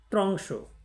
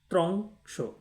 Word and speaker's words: ত্র্যংশ: দ দিয়ে দিয়ে উচ্চারণ করে ফেললেন তাহলে আপনার উচ্চারণ শেষ হয়ে গেল এটা আপনাকে মনে রাখতে হবে আরেকটি শব্দ দেখুন ত্রংশ এখানে তিন বর্ণ বিশিষ্ট শব্দ ত এ র